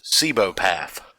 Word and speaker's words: cibopath: But it's Cibopath, like Seebo path.